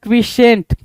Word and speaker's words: quiescent: 6 कह रहा है क्विशेंट. स्पेलिंग पे जरा ध्यान देंगे क्विशेंट के.